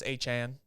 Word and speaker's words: Etienne: You bring in Travis Etienne, or Travis Achan, now is his name pronounced.